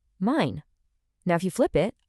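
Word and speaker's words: mein: E-I always makes an I sound, so the word for my is mine.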